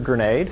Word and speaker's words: Granade: uh my name is andrew grenade which you do pronounce like the explosive easy way to remember